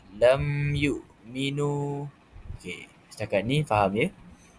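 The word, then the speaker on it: لم يؤمنوا: cara bacaannya er maka hukum bacaannya adalah izhar ia dibaca dengan tidak disertai dengan er gun ghunnah iaitu dengung. Jadi cara bacaan yang betul ialah lam yuk lam yukminu lam yukminu dibaca jelas lam yukminu.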